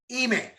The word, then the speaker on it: Ime: Ime. Yeah, Udoka. Ime Udoka. Yeah. I can get the last name, Udoka, with the accent. Udoka. Yeah. First finals as a coach. I mean, obviously, we all kind of know the answer